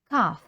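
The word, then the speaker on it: cough: лише стоматолог CF кашель Зверніть увагу на те як читається це слово CF каf наступне temperature temperature температура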